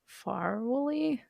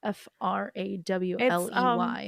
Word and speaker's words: Frawley: Vivian Vance and William Farwley. I don't know if that's how you pronounce it. It's Frawley. It's Ethel and her husband.